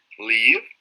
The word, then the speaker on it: leave: Ahora, leave, sale con V, acuérdate de pronunciación labio dental, ¿va?